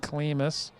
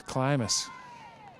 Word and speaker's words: Klimus: went over uh the proper pronunciation of climus before the game i was saying klimus after the famous methuen football and track coach but she says it's climus logan crane ago for